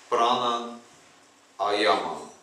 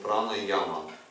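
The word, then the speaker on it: пранаяма: Ну так читается вообще-то этот термин. Прана Аяма. Не прана яма. Яма — это ограничение. Прана — жизненная сила. Если мы так произносим, прана-яма, делим на два слова, то мы ограничиваем эту жизненную силу. А-яма, то есть нет ограничений, значит.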